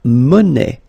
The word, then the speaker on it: monnaie: Then la monnaie. Monnaie, okay, final not pronounced.